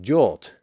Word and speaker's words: JWT: JWT is the acronym, which is often pronounced as JAWT.